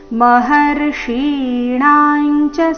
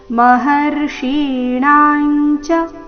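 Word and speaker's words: ಮಹರ್ಷೀಣಾಂ ಚ: ಮುಂದೆ ರಸ್ವಹಿ ಅಹಮಾದಿರ್ಹಿ ದೇವಾನ ಮಹರ್ಷಿಣಾಂಚ ಸರ್ವಶಹ ಮಹರ್ಷಿಣಾಂಚ ಮಹರ್ಷಿಣಮೂರ್ಧನ್ ಈಕಾರದೊಂದಿಗೆ ದೀರ್ಘಣ ದೀರ್ಘ ಬಂದು ನಂತರ ಅನುಸ್ವಾರದ ಉಚ್ಚಾರಣೆ ಮಹರ್ಷಿಣಾಂಚ ಸರ್ವಶಹ ನೋಡೋಣ ಪೂರ್ತಿ ಶ್ಲೋಕ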